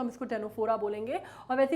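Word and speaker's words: Ctenophora: है कोम्ब या या स्टेनोफोरा बोलते हैं कई लोग, वैसे कायदे से अगर मैं बोलूँ आपको तो इसको टेनोफोरा बोला जाता है, इसका सी जो है वो साइलेंट है, ठीक है।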